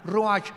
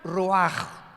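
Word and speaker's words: רוח: Y la palabra para espíritu en el versículo 29 es la palabra, se escribe ruach, como suena con R de Raúl, CH al final, ruach, y se pronuncia ruach.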